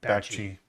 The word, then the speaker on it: Bakshi: How do you pronounce that name? Bakshi.